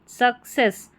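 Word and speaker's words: success: उच्चारण निकल कर आएगा सक्सेस सक्सेस ठीक है सी ई डबल एस को सेस करके पढ़ेंगे और एफ यू एल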